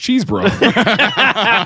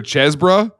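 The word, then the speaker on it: Chesebrough: It's pronounced Cheesebrough. I'm not even joking. It's either Chesbrough or Cheesebrough. Chesbrough. Could you pass the Chesbrough? Could you pass the Chesbrough? First syllable rhymes with fez or cheese.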